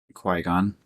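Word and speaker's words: Qui-Gon: Qui Gon. It's spelled Q-U-I-Gon.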